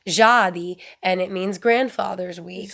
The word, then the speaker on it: Dziady: I love the word Jadi. It's Dziady. And if I'm saying it wrong, I'm sorry, but I feel like my grandfather would be kicking me if I was saying it wrong, because he doesn't like my stupid American tongue, as he put it. So I feel like Jadi is appropriate for the pronunciation.